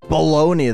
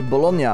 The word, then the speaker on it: bologna: different thing the thing about the thing about baloney though is that that's just the bastardization of the word itself because it's not pronounced that in Italian like it makes complete